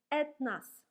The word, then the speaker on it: этнос: O is not stressed, so we read этнос.